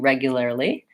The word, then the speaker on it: regularly: let's break it down we have first syllable stress and regularly so reg you there regularly and we're gonna say it's vowel as in Red Tent so if I think